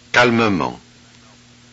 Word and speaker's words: calmement: Okay, look, in the following words, the vowel E is pronounced. Look and listen. Fermement. Calmement.